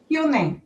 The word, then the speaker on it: Hüni: ¿Cómo se pronuncia tu apellido? Juney, ok.